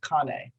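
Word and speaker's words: Kanne: my son's last my friend son's name is pronounced kane but it's spelled kane like my grandmother's maiden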